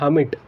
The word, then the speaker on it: hermit: एक होता है हैमिट, ठीक है, हैमिट। वैसे एग्जैक्टली इसकी स्पेलिंग ये है HERMIT।